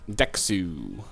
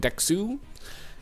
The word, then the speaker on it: DeXoU: ailla 2 good and dexu I believe is how you say it dexu and it looks like